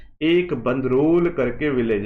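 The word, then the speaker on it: Bandrol: एक बंदरोल करके विलेज है। ठीक है? बंदरोल करके विलेज है। पता नहीं अब मैं ठीक बोल रहा हूं कि नहीं बोल रहा हूं। बंदरोल ही बोलते हैं इसको।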